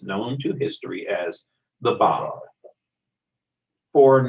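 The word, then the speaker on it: Báb: Now that's spelled B-A-B, even though we pronounce it as Bab, and that is a word that simply means the gate, opening the way.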